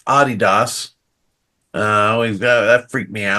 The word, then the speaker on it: Adidas: when I taught there is supposed to be pronounced Adidas uh that freaked me out true and then